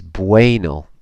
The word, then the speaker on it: bueno: and a reminder that when you see the UE combination in words in Spanish it's like W a Y so this is bueno bueno and you see